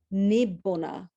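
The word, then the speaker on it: nibbāna: Nirvana, ideally pronounced nibbona, meaning an extinguishment, to no longer exist.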